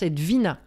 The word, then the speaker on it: Edwina: C'est un W et ça se prononce Edwina.